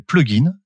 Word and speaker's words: Plug Inn: mobile, iOS et Android, une application qui s'appelle Plugin. Donc ça s'écrit P-L-U-G et plus loin I-2-N, ce qui fait une espèce d'évocation un petit peu au fait de s'héberger.